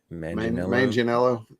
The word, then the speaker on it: Manganiello: Brandon, help me with the pronunciation of his last name. Manganiello.